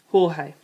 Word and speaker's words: Jorge: called me George and everyone pronounce my name the Spanish way Jorge pointing this out to